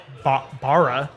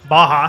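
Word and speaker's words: Barra: at Gracie I keep I want to say bar but you're saying it different sounds like you're saying it properly Baja I think that's how you say it yeah I I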